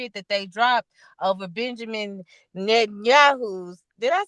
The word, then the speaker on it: Benjamin Netanyahu: that that they dropped over Benjamin Netanyahu's.